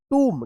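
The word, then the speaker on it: tomb: तो बी क्या रहेगा साइलेंट रहेगा एम का उच्चारण होगा बॉम्ब टी ओ एम बी टुम क्या पढ़ेंगे इसको?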